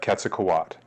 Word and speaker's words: Quetzalcoatl: same let's first delve into the mythology of ketak Kat which is the correct pronunciation of this mythological deity the nahua are